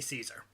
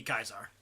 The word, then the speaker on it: Caesar: gr it's CEA so we say Caesars that a Kaiser but the Latin would be guys are which is really it's